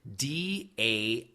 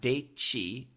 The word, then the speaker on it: daisy: S plus Y is usually pronounced quite clearly, but it does sound like a ZY. So I'll give you an example. DAISY.